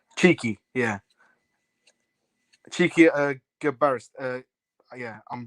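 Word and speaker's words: Txiki: Pronounced Cheeky, yeah.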